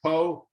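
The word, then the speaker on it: Pugh: Poe. Let's go Poe, not Pooh. Steve Poe.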